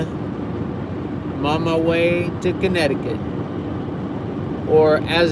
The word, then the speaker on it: Connecticut: on my way to connecticut or as it's spelled get connect to cut connect i-cut connecticut it's like you skip the c you skip the second c the convention this